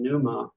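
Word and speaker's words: πνεῦμα: the Greek word that has the p and pneuma together both of those consonants are pronounced pneumatic it would say the p and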